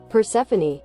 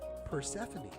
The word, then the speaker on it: Persephone: Persephone. Persephone.